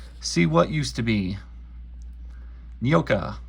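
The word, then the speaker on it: Nyoka: what used to be nioka that's pronounced neoka NOA the jungle girl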